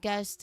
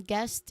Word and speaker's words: guest: Now again guest is the person who attends. You end it with strong t sound.